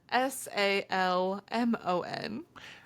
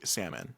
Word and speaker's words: salmon: to pronounce it correctly salmon salmon no l no and I'm salmon I've